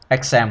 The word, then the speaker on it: XAMPP: มา ก่อน ก็ คือ exam ภาษา อังกฤษ ออก เสียง คำ ว่า exam ก็ คือ X A mpp อ่า นี่ คือ โปรแกรม